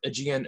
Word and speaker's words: Galapagos: So now that we have the philosophy out of the way, more for Aegean itself, it's pronounced much like the archipelago in the sea, and it combines two existing frameworks.